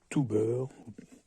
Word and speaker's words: TOOBUR: Donc voici la montre de la marque Tuber, si on prononce, on va dire, l'anglaise.